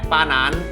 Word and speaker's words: ปาหนัน: อ่า LINE ID LINE @ปาหนัน 888 นะ ครับ อ่าน ว่า ปาหนัน นะ ฮะ ปาหนัน ๆ นะ ครับ นะ